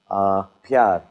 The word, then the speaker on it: प्यार: Pyar.